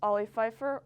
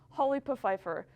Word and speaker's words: Ollie Pfeiffer: Anyway, I'm your new host, Ollie Pfeiffer, or as Colvin likes to pronounce it, Holly Pfeiffer.